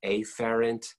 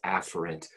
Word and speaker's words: afferent: write that word if you hear me say a ferrant the correct pronunciation is afferent sometimes I say a Farren's because then when